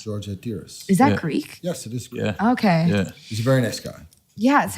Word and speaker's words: Hatiras: How do you spell that? H-A-T, H-A-T. Okay. I-R-A-S. Hatiras. George Hatiris.